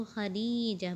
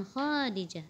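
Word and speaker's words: خديجة: hadzihi wanita Khodijah Ninja dibacanya itu Hadijah bukan Khodijah tapi Hai Sekarang kita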